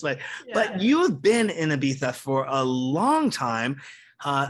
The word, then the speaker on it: Ibiza: great thank you and you said it right ibiza yeah well i better know how to say